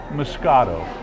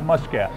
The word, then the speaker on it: moscato: a grape and uh in america now we call it musket it's just our way of pronouncing it it's the same exact